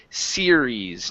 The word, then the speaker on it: series: with this the word series now what you did here is that you pronounced a u saying it like this SE sees instead of sees it's seir series pronounce an R series series there you